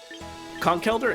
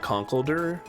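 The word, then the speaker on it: Conkeldurr: Uh, Conkeelder is kind of a strange name. I think for a long time I pronounced it conldder, but I think it's supposed to be like elder, like somebody who's wise.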